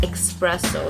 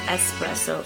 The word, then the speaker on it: espresso: when I was younger I saw espresso is pronounced expresso like express like generaiiy didn't express but it's not it's actually pronounced um like espresso so that was something I've learned when I